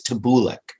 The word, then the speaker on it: Tabaliko: He means tabulik. Tabulik. Like it is illegal or immoral to lick. Tabulik.